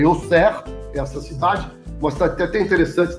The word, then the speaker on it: Auxerre: É logo na sequência vocês viram a cidade que a pronúncia certa é Auxerre, essa cidade.